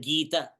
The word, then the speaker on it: Gita: This knowledge of Gita, the very word Gita, reveals to me. If I say the syllable, Gita is two-syllable word, two syllables, Gi and Ta.